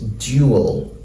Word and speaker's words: duel: gets in FAL speech but normally the pronunciation is duel duel but if you look now in um Daniel Jones dictionary you will see that this pronunciation has taken over from this pronunciation so mostly in British English what you're most likely to hear them say is jeo jeo same way with